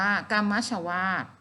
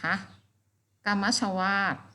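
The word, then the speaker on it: กัมมัชวาต: ค่ะ ทำ นี้ ก็ อ่าน ว่า กัมมะ ชวาส นะ คะ เล่น จด ทั้ง คำ ศัพท์ คำ อ่าน แล้ว ก็ ทำ แปล นะ คะ กัมมะ ชวาส แต่ ว่า ลม ที่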